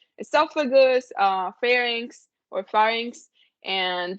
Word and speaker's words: esophagus: pronunciation like whereas like esophagus when you have like a pH you make the F sound in Spanish esophagus uh pharynx or pharynx